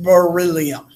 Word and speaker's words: beryllium: It's pronounced beryllium.